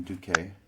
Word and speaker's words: Duque: Isn't that Ivan Duque? Is that, I don't know how do you pronounce his name.